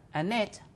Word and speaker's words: Annette: Sebab di dalam bahasa Inggris, kata Annette atau kata yang berakhir dengan T, ada yang disebut aspirant, itu diucapkan. Sehingga Annette, ada T. Tetapi orang Indonesia tidak mengucapkan huruf T dengan aspirasi. Jadi mereka berkata Annette. Dan T-nya tidak keluar.